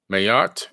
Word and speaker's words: Ma'at: the ancient god named Mayotte m-a-a-t mayat is actually the pronunciation she was the wife